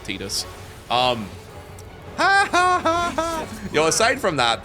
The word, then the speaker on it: Tidus: As much fun as it is to make fun of the guy who voice acted Tidus, or Titus, depending on how you like to pronounce it. I always called it Tidus.